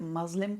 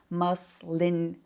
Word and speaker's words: muslin: me saying this name they call it muslim cloth no it's with an n muslin cleansing cloth so i